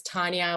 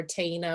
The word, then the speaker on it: Taina: said my name is taina nuevo uh it's really tricky to pronounce my name um uh so i always like to say it's china with a t that's the the correct way to pronounce it but you know